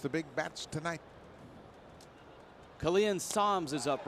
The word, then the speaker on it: Sams: His last name pronounced Sams.